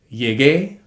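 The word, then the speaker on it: llegué: in the yo form so for a verb like llegar to arrive it's gonna be conjugated yeh gay but in order to spell that it would have to be ll e g ue with an accent the rest of the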